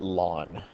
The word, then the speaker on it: ln: for the special logarithm and we call it lawn it's pronounced La l n but it's not l